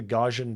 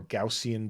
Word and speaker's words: Gaussian: do we need to use I like the Gaussian blur or Gaussian blur this is another pronunciation problem but because it's GPU accelerated I